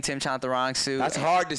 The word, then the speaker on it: Chantarangsu: Do I say it right now? I've been it's Chantarangsu. It's you're like 90%. You're so close. See, when I say it fast, I was Tim Chantarangsu. So it's Chantarangsu.